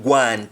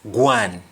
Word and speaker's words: gwan: That accent is borrowed from the French, like I told you, where we have Lois being pronounced as Loi. Du Bois being pronounced as Dubois. And then going being pronounced as Guan.